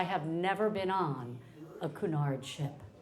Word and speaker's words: Cunard: I'm like, come from cuz I have never been on a Kunard ship. Kunard.